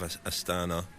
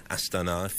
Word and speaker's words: Astana: We should probably talk about the ongoing story of Astana, or Astana, if we had Rob Hatch with us and we were trying to impress him with our pronunciation.